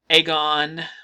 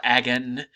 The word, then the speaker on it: agon: Polis, Delphi, Agon, or Agon, depending on how you want to pronounce it, and Miletus.